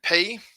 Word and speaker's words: pi: better but from math you usually call this pi in maths in greek it's pronounced p um so we'll stick